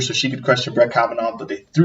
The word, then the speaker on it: Kavanaugh: week about, I still don't know how to pronounce his name. The Supreme Court nominee, Brett Kavanaugh. It's Kavanaugh.